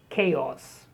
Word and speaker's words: chaos: I'm sure you know that many words in English containing CH, they are spoken as K, like chemistry. So here the word is chaos.